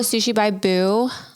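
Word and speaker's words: Sushi by Bou: You know, Sushi by Boo.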